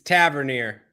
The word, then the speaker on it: Tavernier: kind of a thing it's a turbine or Tavernier it's Tavernier normally I'm the one that